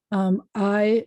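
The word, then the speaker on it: hay: languages from other places i is spelled h-a-y in modern spanish aidos libros la mesa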